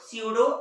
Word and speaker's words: pseudo: इसका जो स्पेलिंग चालू होता है वो पी से होता है, तो स्पेलिंग होगा इसका PSEUDO स्यूडो और ALUM, है ना। जैसे कि आप लोग जानते हैं साइकोलॉजी, साइकोलॉजी की स्पेलिंग भी चालू होती है पी से, लेकिन इसका प्रोनाउंसिएशन होता है स्टार्ट एस से, क्योंकि जब भी पी एस के पहले आता है तो वो साइलेंट होता है ना।